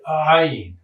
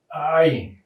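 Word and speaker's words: עין: sound of this letter, you'd say ayin, ayin. You hear it in Arabic. This letter exists in Arabic, and they call it ayin, and they pronounce it every time it occurs in a sentence.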